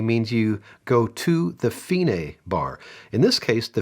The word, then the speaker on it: fine: with this fine marking and that's how I pronounce it finae which just means the end so in r92